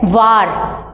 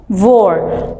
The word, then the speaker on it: war: word it's a war we do not call it as var we pronounce it as war war is a terrible